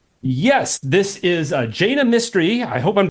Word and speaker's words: Jaina Mistry: This is Jana Mystery. I hope I'm pronouncing that right. Jana, can you introduce yourself to our listeners? tell us what you do. Yes. So, my name is Jane Mystery.